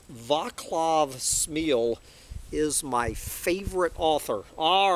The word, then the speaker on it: Smil: And so JJ has sent me a review of a new book by fellow doomer Vaclav Smil, I guess you pronounce S-M-I-L as Smil. And Dr.